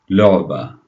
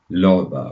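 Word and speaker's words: لعبة: The word here is toy, or lu'ba, lu'ba, or toy. See the ah sound in the middle? Ah, lu'ba, lu'ba. Alright, let's connect our lam to the ayn.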